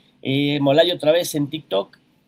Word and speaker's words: Molay: Y pues acá nos vemos, Molay Maza, me encuentran en Facebook, Molay-Maza en X, Molay otra vez en TikTok, y ahí ¿cómo se llama el otro?